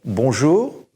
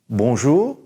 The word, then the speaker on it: bonjour: I want you to say bonjour, bonjour, and good afternoon or good evening, bonsoir, bonsoir, and good night, good evening, bonne nuit, bonne nuit.